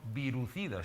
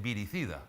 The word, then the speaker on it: viricida: que dicen que son virucidas, incluso se pronuncia mal, porque la palabra virucida no existe, es viricida, ¿no?